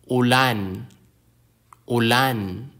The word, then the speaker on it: ulan: Some words have stress on the last syllable. This can be indicated in written Filipino using a diacritic mark called a paiwa. Examples, lupa, which is earth or soil. Lupa. Ulan, ulan. An ulan is a rain.